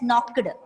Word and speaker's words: knocked: Don't pronounce it as knocked. It's knocked. Okay, the sound should not come while you read.